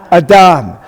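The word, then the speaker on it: אדם: So how do we pronounce that word? Adam.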